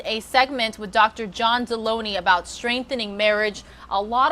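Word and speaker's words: Delony: John Deloney. Am I saying your last name right, doctor? Perfect. It rhymes with bologoney.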